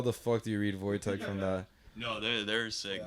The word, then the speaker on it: Wojtek: Is it Wojak? Oh, Wojtek. Wojtek? It's like spelled like Woj Yeah, Tech.